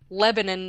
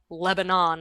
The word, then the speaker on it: Lebanon: That is but yeah, I don't know why that's it's and it's pronounced Lebanon, not Lebanon like the country.